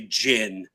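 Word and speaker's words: GHIN: It's the only only word that starts with a gh that's they want us to say jin.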